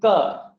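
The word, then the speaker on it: क: Ka, which is a non-aspirated sound, which means there should be no release of the breath. It should be pronounced without anything being felt on your hand.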